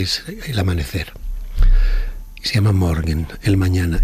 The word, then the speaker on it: Morgen: ¿Cómo se pronuncia? Morgen.